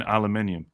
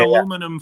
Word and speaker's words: aluminium: It's like there's an I in aluminium. Like, give me that aluminum foil.